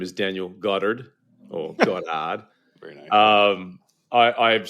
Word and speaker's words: Goddard: Uh, it is Godard. Okay. B. Basically, you take your O's and you make them sound as round as you can. Turn your Rs into H's and then you write.